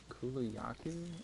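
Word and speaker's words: Kulu-Ya-Ku: do you want to pronounce it right it's kulayaki i believe i just cut out the yaw part of it or you can just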